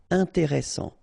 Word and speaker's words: intéressant: Double S, same thing here. S, strong, and it opens the pronunciation of your E. Intéressant.